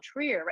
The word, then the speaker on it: Trier: and we had an amazing time and uh Trier was one of my favorite places and this is you know this is a stop that probably doesn't get a lot of people saying oh Trier am I pronouncing that correct Christine Tri yes you do